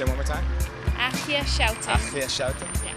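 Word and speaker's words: Aagje Schouten: My name is Achia Schouten. It's spelled AAGJESCHOUTEN. All right, say it one more time. Achia Schouten.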